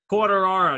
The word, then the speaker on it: Quartararo: how do you say your last name man quarter arrow you can just call me if that's